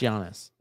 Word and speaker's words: Giannis: Look, there's a G. Yeah, but it's pronounced Giannis. That's a Y.